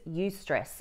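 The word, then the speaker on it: eustress: are two types of stress the first is use stress it's spelled e-u-s-t-r-e-s a healthy type of stress it's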